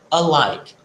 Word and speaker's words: alike: Pronúncia like, a outra palavra, alike. É como se você não desse tanta ênfase no primeiro lá e falar, por exemplo, alike, tá? É como se fosse like and alike, essa pronúncia alike.